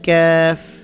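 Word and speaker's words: كاف: যেটা হয় সেটা হচ্ছে ক্যাফ, ক্যা ক্যা, ক্যাফ। এটা কফ, এটা ক্যাফ। কফ এবং কাপের যে পার্থক্য, এটা আমাদের খেয়াল রাখতে হবে।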